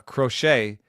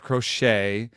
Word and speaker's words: Crochet: um I started uh crochet who um I call the rocket uh because that's how that's how we should say his name uh like like David Crockett DAV K or or